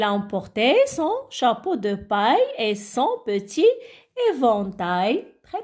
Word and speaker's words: paille: C'est paille. Ah bon? Alors je me rappelle très bien quand on a la prononcé. Oui, on a dit paille. Oui, exactement. Alors les enfants A-I-2-L-E se prononcent aïe.